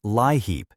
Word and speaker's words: LIHEAP: Everyone calls it LIHEAP, pronounced LIHEAP, and in fiscal year 2026, Congress funded it with approximately $4.05 billion.